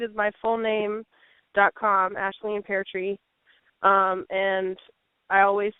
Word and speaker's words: Peartree: And my last name is a little bit easier, Peartree, like a tree that grows pears, Peartree.